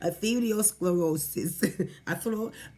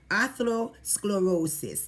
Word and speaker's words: atherosclerosis: ethereal sclerosis yes I I can pronounce ethereal sclerosis atherosclerosis the atherosclerosis that's the word now what is it